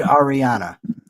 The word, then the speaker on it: Ariana: But okay, it is indeed Ariana. That's how it's pronounced. It's Ariana. Okay, good. No, Ariana. Yes, Ariana, even though it's not spelled that way.